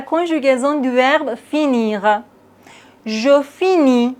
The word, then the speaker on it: finis: Je finis, on ne prononce pas le S.